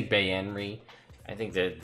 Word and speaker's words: Baenre: I think the pronunciation guide says Baenre. I say Baenre because I've listened to every Drizzt novel on Audible, and the guy who's the same narrator for all of them says Baenre, so that's what I use.